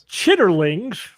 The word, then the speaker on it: chitterlings: i wasn't sure until uh ian said the pronunciation that i was using yeah it's actually thank you chitterlings that's yeah that's kind of like yeah so